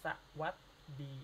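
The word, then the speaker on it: สวัสดี: Jadi ini dibacanya seperti ini aja, jadi sawaddi ya, sawaddi. Kayak gitu.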